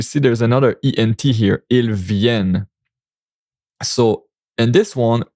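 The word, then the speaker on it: ils viennent: Ilven. So, and this one it's pronounced il ven. We don't pronounce the n t because it's a verb in plural the ent like that and like they the day come.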